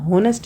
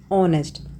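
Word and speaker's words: honest: जब हम इसको साउंड जब हम इसे पढ़ते हैं तो हम होनेस्ट नहीं पढ़ते इसको वी प्रोनाउंस इट ऑनेस्ट तो साउंड किसकी आ रही है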